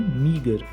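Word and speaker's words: meagre: कम उसको बोलेंगे मगर एम ई ए जी आर ई स्पेलिंग भी आप याद कर लीजिएगा प्रोनंसिएशन है मगर अमाउंट मुझे अपने पैसे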